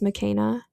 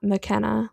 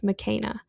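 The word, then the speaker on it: Makena: Now, I've pronounced her name McKenna too many times. Her name is pronounced McKenna. She is Kenyan American, and her name is Swahili. So it's not McKenna, like McKenna Brooks. It's McKenna.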